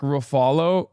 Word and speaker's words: Ruffalo: It's Ruffalo like Buffalo.